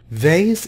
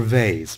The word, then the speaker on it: vase: inside ancient very old vase is the American pronunciation British save us you can save us or vase both are correct someone